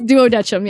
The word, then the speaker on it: Duodecim: Is that how you pronounce that word? I've always been so afraid to try. Thank goodness. Yeah, it's Duodecim.